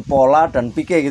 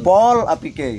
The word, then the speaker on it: Polapike: Oh, jadi bukan pola dan pike gitu ya, tapi pol apike gitu. Karena menyadur dari kalimat yang sering diucapkan orang sini.